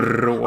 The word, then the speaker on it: språk: You left out the R. What R? There's no R in here. Språk. Oh, språk.